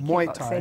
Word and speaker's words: Muay Thai: Muay Thai.